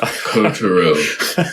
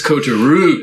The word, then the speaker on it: Kotaro: It would be really fun if we had a moment where you're just like, Mike, it's not Kotaro. It's Kotaro.